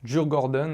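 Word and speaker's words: Djurgården: m'excuserez pour la prononciation on va essayer d'écouter la prononciation dans la langue adaptée dur Gordon ok donc maillot adidas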